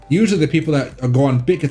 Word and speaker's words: Bitget: I call it Bidget because I'm lazy, but you can call it BitGet. I think it's the formal way to say it.